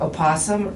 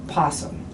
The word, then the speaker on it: opossum: the big controversy is do you pronounce the o is it opossum or is it possum yes which is correct i think whatever you prefer i think that's it